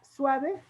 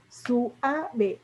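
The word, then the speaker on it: süave: Por lo tanto, es válido que en poesía se rompan los diptongos y se le pone una diéresis y entonces se suaviza el sonido y en lugar de que se lea suave, es suave. Entonces, ¿cuántas sílabas nos dio? Suave. 3. 3, y con eso ya llega a las 11 sílabas y se convierte en un verso endecasílabo.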